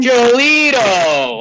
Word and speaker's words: Giolito: How do you pronounce this guy's name? Giolito.